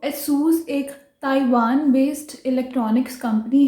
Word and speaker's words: ASUS: इसको हम गलत कैसे बोलते हैं? एजस। एजस, कई लोग इसको एजस बोलते हैं, बट असूस कंपनी ने खुद ही अपने ब्रांड की सही प्रोनाउंसिएशन उन्होंने एक सॉन्ग बना के दिखाई हुई है जिसमें वो बोल रहे हैं इसको एसूस।